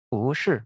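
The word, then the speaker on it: 不是: Ya, jadi tambah kata 不 dirangkai menjadi dengan 是 yang nada keempat, maka dia menjadi 不是. 不是 nada dua ya.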